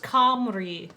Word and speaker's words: Cymru: Apparently it's pronounced Cymru.